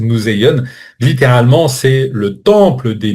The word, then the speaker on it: museion: Alors oui, on n'a pas exactement la prononciation exacte. On va le prononcer museion.